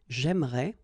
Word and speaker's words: j'aimerais: But then it's exactly the same thing, because even if you get this here and here, you don't pronounce it. So it will go like j'aimerais, or then j'aimerais.